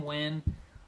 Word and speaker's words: Nguyen: they pronounce his name, because it's spelled Nguyen. But it's Ben 10 Nguyen.